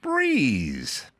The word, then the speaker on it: Breez: Meet Breeze. Spelled B R E Z. Pronounced Breeze.